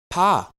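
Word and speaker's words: פ: Pa. Pa. Ha. Pa makes the P sound at the beginning of a word. P. P. Anywhere else in a word, pa makes the F sound.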